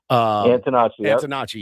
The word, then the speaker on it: Antonacci: Antonacci. Antonacci, yeah.